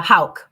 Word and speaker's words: Houk: So, how do you say your last name? Uh, Hal.